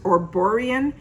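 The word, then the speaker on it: Erborian: wait to try it the brand is called uh e-r-b-o-r-i-a-n i gonna pronounce it or borean they're saying it is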